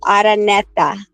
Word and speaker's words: Araneta: Pronounce his last name for Araneta. You have to roll your R. Araneta.